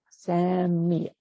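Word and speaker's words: Sami': It's S-A-M as in Mary, I, and then the ein glottal stop at the end. Sami.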